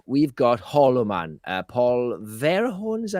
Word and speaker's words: Verhoeven: Paul Verhoeven, is that how you pronounce this? Verhoeven, yeah.